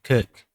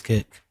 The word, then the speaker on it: Circe: It's spelled that way, but it pronounced Kirk. Because I see those Japanese titles as well. This Kirk.